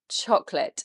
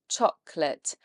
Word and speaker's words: chocolate: It's actually only 2 syllables in English. We don't say that middle O, it's silent. Chocolate. And it's not late, so don't try and read it phonetically. The L-A-T-E suffix there is not late. It's said as lut.